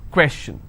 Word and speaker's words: question: information if I have the word question how many syllables two quests chin all right and I will stress here question clear so the rule